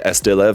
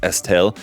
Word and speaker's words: Estailev: I've always said Estee Lev because it has a V on the end, but reading the Japanese actually it just says Estel. So I guess maybe the V is silent. Not something that I was